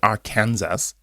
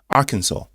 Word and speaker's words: Arkansas: talking about negativity right Americans how do you pronounce it Arkansas right it's not Aransas Arkansas right arkans lawmakers float Bill to ban crypto